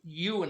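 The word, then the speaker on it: Ieuan: Now, or Ewan, I guess it is, I-E-U-A-N. And Ewan translates to John, and AP means the son of.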